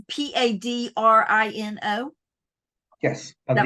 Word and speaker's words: Padrino: So, again, in my southern pronunciation, Padrino, it's Padrino.